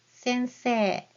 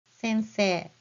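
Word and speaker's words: 先生: It is sensei. Again, always remember how to spell it correctly first. And then you can read the word faster to get that long vowel correct pronunciation. Sensei, sensei.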